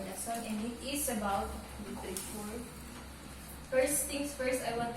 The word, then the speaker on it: literature: Literature. Literature. So, Literature. i-cancel out nyo yung E. Literature. Mhm. Literature. Sabi Tapos yung A magiging E sound.